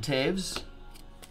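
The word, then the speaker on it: Toews: Jonathan Taves at a 999. No V in there, but that's how they tell me it's pronounced.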